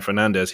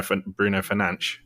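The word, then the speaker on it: Fernandes: You know, Bruno Fernandez is not Bruno Fernandez. He's Bruno Fernanch.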